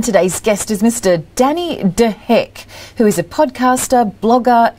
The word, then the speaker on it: De Hek: well so today's show we have mr danny de heck welcome danny well done you're pronouncing my name beautifully by the way oh